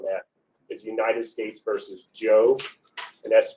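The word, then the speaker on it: Jho: And the best case to read about that, a seminal case on that, is United States versus Joe, and that's pronounced J, that's spelled J-H-O, and it's a Fifth Circuit case, 2008.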